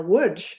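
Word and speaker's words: Łódź: to the Soviet threat to litzman or wood now wood I am pronouncing that correctly but you might see it's spelled l o DZ and in Wood my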